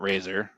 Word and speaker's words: RZR: So it's RZR and some people will call it literally like RZR not Razer. And then other people will spell it R A Z O R, not RZ R.